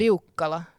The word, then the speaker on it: Liukkala: How to pronounce it? Because I did. Leala.